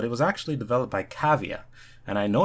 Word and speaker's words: Cavia: know this but it was actually developed by cavea and i know it's pronounced cavea because there's a blurb on the website saying